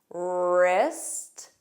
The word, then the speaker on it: wrist: Wrist, wrap, rrr. So notice it begins on that R.